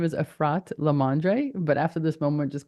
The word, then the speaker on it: Efrat LaMandre: if you know me I usually mess up pronunciation my name is arrat lamandre but after this moment just call me